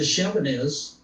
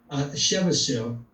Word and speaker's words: Chebyshev: Then there's the Chevanez distances. Chebyshev, I mispronounce this all the time.